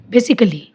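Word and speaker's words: basically: जैसे बेसिकली, अब इसमें ए साइलेंट है, इसको हम बेसिकली या कली करके नहीं पढ़ेंगे। इसमें ए साइलेंट है, इसको हम बोलेंगे बेसिकली, बेसिकली। लॉजिकली, ऐसी लॉजिक कै या कली करके नहीं, लॉजिकली।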